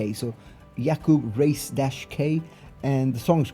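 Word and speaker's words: Racek: As I said, we then have Yakub Race K. Okay, it's actually I think it is Yakub Rasic, R A C E K, but he puts a hyphen and then a K.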